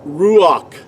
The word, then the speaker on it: ruach: The word ruach in ancient Paleo Hebrew is spelled resh, u. See, that's the second letter. Ruach. See, the second letter cannot be spelled with a W sound nor a V sound.